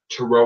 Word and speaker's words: tarot: for that um I am also um a Tarot reader and spiritual advisor you can find me